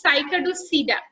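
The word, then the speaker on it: Cycadopsida: সাইকাডোসিডা, এগুলোর উচ্চারণ কিন্তু সাইকাডোসিডা, মানে মাঝখানের যে পিটা এটা উজ্জ্বল হবে।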